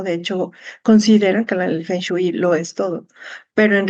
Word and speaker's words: Feng Shui: El correcto es Feng Shui. Feng Shui. Así es como se pronuncia, pero también depende de las localidades donde se pronuncie, también cambia un poquito.